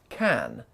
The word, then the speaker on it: can: languages English and Hindu they all use the word can but they didn't pronounce it as can listen again how do